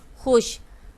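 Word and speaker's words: خوش: ठीक है, और खे वाओ शीन खुश। ठीक है, ये वाओ जो है यहाँ साइलेंट है, पढ़ा नहीं जाता लेकिन लिखा जाता है। ये क्या है? खुश।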